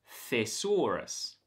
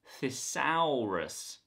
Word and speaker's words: thesaurus: word is thesaurus thesaurus the first syllable has a voiceless th sound it's f it's not a voiced th sound the this word is fear thesaurus the second syllable is stressed and it has an or vowel thesaurus it's not thisaurus this is thesaurus the third syllable has